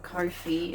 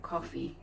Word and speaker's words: Ko-fi: Some people call it Ko-fi, and since then someone has said that you pronounce it coffee, so my coffee site.